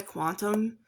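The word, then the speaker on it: qntm: And this person um not only I think his real name is Sam Hughes but he goes by Quantum which is spelled Q N TM.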